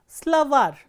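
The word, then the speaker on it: словарь: As you can see, if the ending is stressed, for example, slavar, slavar ends with a soft consonant or a consonant with a soft sign, slavar, and you can see that the last syllable is stressed, var.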